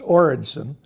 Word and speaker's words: Oredson: or Edson that's pronounced origon and uh I was